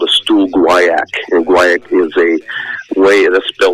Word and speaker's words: guaiac: So, for example, the first thing we typically do is we do what's called a stool guaiac. And guaiac is a way, that's spelled G-U-I-A-C, or maybe I missed a U in there, G-U-I-U-A-C.